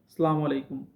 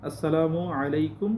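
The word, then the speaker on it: السلام عليكم: যেমন অনেকে দেখবেন সালামু আলাইকুম। সালামু আলাইকুম। এইভাবে আসলে সালামটা দে।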